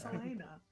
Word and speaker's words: Selena: we need to go everyone always says her name wrong it's Selena I have an accent